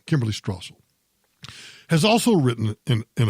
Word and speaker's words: Strasser: page of The Wall Street Journal is Kimberly Stossel and Kimberly Stossel I'm sorry Strasse lobbies pronounce my last name wrong Kimberly Strasser has also written in an opinion piece called